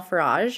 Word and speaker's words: Farage: Z I am farage like garage with an F in case you forgot